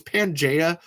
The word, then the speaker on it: Pangea: I think it's Pangea, like the original dinosaur planet, which I only know how to pronounce that because of dinosaurs, which is a great show.